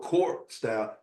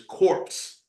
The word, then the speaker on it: corpse: It wasn't core style or corp style. It was corpse, as in dead body style.